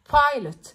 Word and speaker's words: pilot: pilot، البي بي strong، بخرج هوا من بقي وأنا بنطقها pilot. pilot.